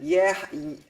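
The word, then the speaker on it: יְהִי: And how do you pronounce that? Yehi. Yehi. It makes yehi.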